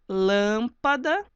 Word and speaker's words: lâmpada: Lâmpada. Lâmpada é assim que fica a separação. A sílaba tônica está na antepenúltima.